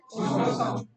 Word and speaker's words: croissant: Croissant की pronunciation क्या होगी भाई बताओ?